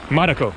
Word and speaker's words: Marko: Marko. Yes. Kind of like Marco, but Marko.